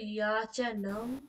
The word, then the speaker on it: याचनां: হ্যাঁ, আচ্ছা, ইয়াচনাম, भिक्षुकौ याचनं নাম না, कुरुतः নাম, तं। याचनाम, अच्छा, भिक्षुकौ याचनां নাম না, নাম, नाम याचनां। নাম। আকারটা এত কিপটে কেন? আকারটাকে আকারের মতো উচ্চারণ করতে হবে, দীর্ঘ করে।